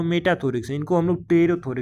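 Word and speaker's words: pterothorax: थोरेक्स इनको हम लोग रोथर के नाम से जानते हैं देखो यहां पर पी साइलेंट है थोड़ा ध्यान से पढ़िए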